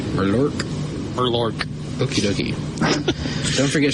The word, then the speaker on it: Murloc: It's pronounced Mur as in murky, lore hard K. Murlork?